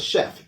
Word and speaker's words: chef: First example is chef, definitely from French. We do pronounce the F at the end. That's one of the ones that's here. Also, the CH in French is often pronounced like an SH.